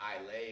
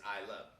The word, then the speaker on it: Islay: of isla i mean you read it it looks like i lay or islay or whatever but proper pronunciation is i love uh they make some